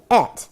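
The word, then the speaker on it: את: Okay, et. And it's spelled Aleph and Tav.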